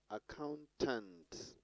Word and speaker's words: accountant: on the second syllable accountant on accountant on the second syllable global global on the